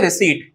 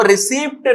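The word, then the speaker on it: receipt: ऐसे ही रिसीट होती है ये, इसमें जो पी लिखा होता है ना वो रिसीप्ट नहीं होता है, पी को नहीं पढ़ते हम लोग, पी को हटा देते तो वो हो जाती है रिसीट।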